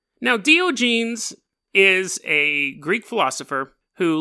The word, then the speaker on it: Diogenes: And I'm Dio, like the rock band, and then genes.